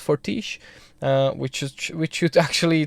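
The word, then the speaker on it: Fortiche: and they're called forti I believe it's pronounced fortish uh which which should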